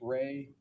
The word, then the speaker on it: Rey: the REY test. Ray, the Ray Ostrich complex figure test.